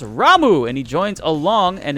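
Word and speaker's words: Ramuh: way the official confirmation is his name is pronounced ramu and he joins along and is looking hella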